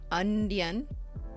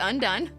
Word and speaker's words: Undone: gun kelly's undone lacquer that is how you say it not ondian un on the end no it's undone um and i have